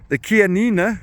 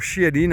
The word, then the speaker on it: Chianina: But a more interesting fact, and something I only saw last night, is that the Chianina, or Chianina as I pronounce it, is seen as being the oldest breed in the world.